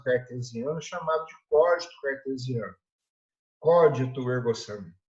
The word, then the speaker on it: cogito ergo sum: Cogito ergo sum é a pronúncia correta.